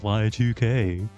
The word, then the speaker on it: VA-11 Hall-A: that's not what it's I know it's actually supposed to be pronounced y 2K but it bu but it bugs the guy to here it pronounced Yik so whatever Yik that